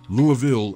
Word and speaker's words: Louisville: Kentucky's largest city, "Loo-a-ville" as it's pronounced by locals, offers no end of exciting things to do, whatever your interests.